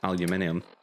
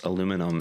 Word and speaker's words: aluminium: is in enough aluminium and yes it is pronounced aluminium anybody who hits me with it aluminum is going to get slapped through the the